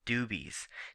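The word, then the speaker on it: Dooby's: at a place called dubes now that's uh possessive not plural of the word dubie and it's spelled D o o b y so it's a guy's name uh in the upper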